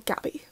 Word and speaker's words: Gaby: But I've forgotten if he said Gaby or Gabby. What does he say? Gaby? I want to say it's Gaby because it rhymes with baby.